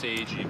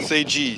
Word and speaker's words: SageG: It's pronounced Seiji, by the way. Say G.